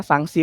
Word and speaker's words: sangsi: Hai sanksi pertama ya sanksi pertama menggunakan ng kemudian sanksi kedua menggunakan NK tapi kita melafalkannya sama ya sanksi-sanksi tanpa perbedaan pelafalan maknanya juga berbeda sanksi